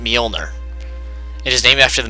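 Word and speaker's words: Mjolnir: step was the molner armor yes it is pronounced molner it is named after the mythical mythological Hammer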